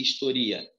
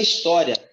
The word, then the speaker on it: historia: Então, como é que faz a separação dessa palavra aqui, historia? Ó, vai ficar assim, ó. Historia. Não é história, é do verbo historiar.